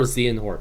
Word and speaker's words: Xehanort: Young Xehanort. Am I Xehanort? pronouncing that right? It's Xehanort or Xehanort. I've heard both, but I think it's Xehanort. Like, that's what the game pronounces it.